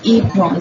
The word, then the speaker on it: apron: Now A, E, O and U, they usually say their name at the end of a syllable, like apron, like you see their name. We're starting with apron, not apron. It's apron. So A का नाम क्या है? It's A itself, so apron.